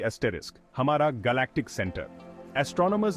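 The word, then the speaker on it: Sagittarius A*: example है सेजिटेरियस ए एस्टरिस हमारा galactic centre oestrone मर्स ने हमारी गैलेक्सी और उसके बाहर कई ब्लैक होल्स डिस्कवर किए हैं एक फेमस एग्जांपल है सेजिटेरियस ए जिसे ए स्टार प्रोनाउंस करते हैं सेजिटेरियस ए एस्टरिस एक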